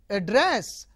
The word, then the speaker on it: address: attract the audience so if the stress is on the first syllable ility becomes address that is a place where you live and the stress is on the second so the address you are speaking to someone or addressing someone and the shakable are